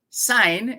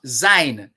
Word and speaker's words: syne: on it in scots sign s-y-n-e is pronounced like the english word s-i-g-n sign not sein some people like to